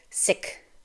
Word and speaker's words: Sikh: In Punjabi, the word sounds like this, Sikh, with a short I sound, like I as in kick, and the ending has a k sound.